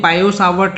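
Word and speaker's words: Biot-Savart: Okay, actually ये टी जो है वो साइलेंट होता है तो उसको पढ़ते हैं बायो-सावर्ट लॉ। ओके, चलिए समझते हैं कि क्या कंसेप्ट है, कैसा लॉ है ये।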